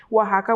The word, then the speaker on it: Oaxaca: So I know it can be tricky with pronouncing the word, but yes, my family is from Oaxaca, which is a southern state in Mexico, and we're known for very many different things.